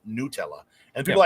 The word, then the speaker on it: Nutella: Now it's just like when I talk about Nutella, it's not Nutella. It's an Italian company who says it's pronounced Nutella, and people are like the word nut is in it.